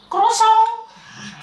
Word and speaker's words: croissant: Nah dibacanya gimana coba? Croissant.